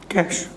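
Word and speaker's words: cache: कैश, हालांकि spelling, English की spelling के हिसाब से कैच लिखा जाता है, क्योंकि इंग्लिश में हमें पता है C और H क्या होता है, चाय होता है, लेकिन इसे बोलना क्या है, कैश बोलना।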